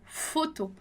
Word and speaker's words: photos: E a próxima palavra lá que é photo, photo. Então, photo é uma palavra que a gente também não vai pronunciar o S, a gente vai dizer lá photo, que é fotos, né?